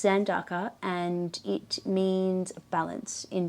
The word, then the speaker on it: Zandaka: But it's Zandaka, and it means balance in Japanese.